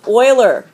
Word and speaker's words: Euler: see it okay this is called this is pronounced Euler that's how you pronounce this dude's last name Euler is what you would say okay this is the Euler number and it's named after a guy leonardo